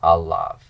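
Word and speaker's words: עליו: I need a long vowel. I've got a short vowel, so I need to lengthen it. And I get alav. So all with a short A becomes ah with a long A, alav.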